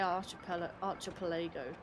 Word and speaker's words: archipelago: Don't let me hear you say archipelago. It's not pronounced like that. Who pronounces it like that? It's a silly pronunciation. It's archipelago.